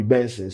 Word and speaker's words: BNXN: Buju say his name right now be Benson.